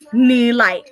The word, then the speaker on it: Nilay: So my name split up is Nilay. Like, that's how you say it in Hmong, is Nilay. And it means like it sparkles or it's flashy.